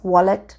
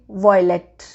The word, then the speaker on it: wallet: maybe the people are writing it correctly as wallet but they pronounce it wrong they say violet violet yeah where is my violet but my intention is